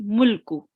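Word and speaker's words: مُلْكُ: mulku And we do not stay on the lam. We just say mulku.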